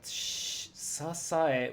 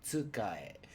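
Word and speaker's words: 支え: Sasae would be the way I pronounce this, but it's actually tsukae.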